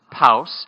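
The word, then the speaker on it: Paus: we were almost related her last name is spelled PA us and pronounced house and my last name is us us pronounced mouse mouse and palace you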